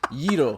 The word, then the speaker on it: gyro: fucking gyro Like come this down. is Yiro. I still pronounce it gyro.